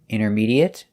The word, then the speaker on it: intermediate: a longer word it has two different pronunciations if it's not a verb it is pronounced it our examples today intermediate adequate legitimate accurate and